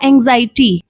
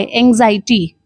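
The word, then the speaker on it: anxiety: अगला वर्ड है हमारा एंग्जायटी। ए एन एक्स आई ई टी वाई एंग्जायटी।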